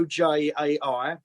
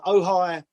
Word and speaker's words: Ojai: okay it's oh hi it's spell o spelled o-j-a-i um it's been called ouija it's been called oj it's been called whatever you just called it it's it's actually pronounced dohy uh ohi is a beautiful idyllic little town in california